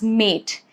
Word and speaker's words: mate: Now mat becomes mate. Over here, mat, A has a short sound. But when you attach letter E to it, it becomes mate. And now it is actually pronounced as letter A.